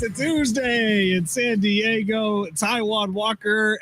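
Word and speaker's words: Taijuan: No, it's Taiwan Walker. Pronounce Nectai Juan. Yes, it's Taiwan Walker. Get out of here. There's a J in it, bro.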